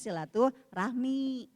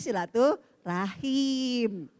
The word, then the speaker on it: silaturahmi: error ya kan ya padahal silaturahim atau silaturahmi dalam pengucapan itu semuanya tidak ada yang salah tapi kalau kita ingin